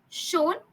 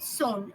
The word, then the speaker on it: shown: Shown pronunciation uh pronunciation was uh I think um you needed to correct it. You said you said son. Okay. Shown. shown.